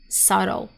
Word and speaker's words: subtle: Subtle. Subtle is American pronunciation. And in British English you can hear subtle, subtle. You will hear the two sound very clearly subtle.